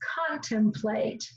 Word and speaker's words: contemplate: to this last syllable we know that e on the end is silent and if e on the end is silent it tells that first vowel in this syllable to say the long sound a and so that symbol says plate so the whole word the word is contemplate when you contemplate something